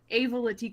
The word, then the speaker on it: Avelaitixa: can call me but if anybody's curious on how to actually pronounce it it's a veloute so just in case